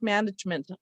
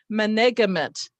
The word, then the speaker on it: management: OG, and they say management, management. If you're not aware of the suffix meant, you don't see that the E in front of it is a silent E that was from the base word.